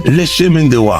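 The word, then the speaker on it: Le Chemin du Roi: SPEAKING OF, HOW THE HELL YOU pronounce LeChimin LeChemin du Roi.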